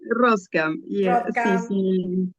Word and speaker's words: Roskam: No sé cómo pronunciar tu apellido, Mónica. Ramerta Ros Roscam.